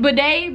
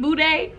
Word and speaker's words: bidet: Am I saying it right? Bidet? Boudet? No, it's bidet.